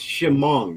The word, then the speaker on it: Chemung: It's Chemung, which Chemung.